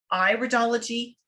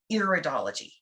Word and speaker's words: iridology: who might be new to this the correct pronunciation is iridology not iridology okay iridology might be studying these things on